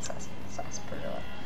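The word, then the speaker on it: Sarsaparilla: Okay, so it's pronounc sasparilla.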